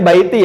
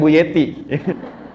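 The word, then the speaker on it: بيتي: Ya, bacanya baiti ya, bukan buyeti.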